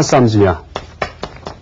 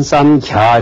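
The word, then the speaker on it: संज्ञा: 그렇지만, 원래 인도, 이제 원어를 우리가 파악할 경우에, 이 아상일 경우에는, 아상은 아트마 쌈주냐. 아트마 쌈주냐. 이것은 쌈주냐라고 읽어도 되고요. 혹은 쌈갸 이렇게 읽어도 됩니다.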